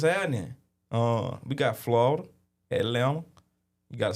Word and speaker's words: Atlanta: With no tea. Yeah, I know the tea is silent. Yeah. Yeah. The tea don't even exist.